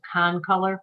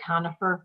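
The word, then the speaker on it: concolor: was talking about is Con color fur I think you said Conifer but it's con color F con color can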